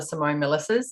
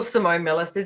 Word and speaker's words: Simone Milasas: And so far I haven't discovered another Simone Milasas. So if you Google Simone Milasas, it's my Instagram handle, Facebook, website, all of that.